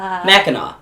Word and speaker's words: Mackinac: Mackinac. Mackinac. Mackinac. Mackinac. How do you pronounce that one?